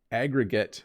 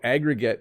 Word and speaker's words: aggregate: What is the difference between 1, reflect versus relate, and 2, aggregate versus incorporate? So aggregate or aggregate, there's two pronunciations.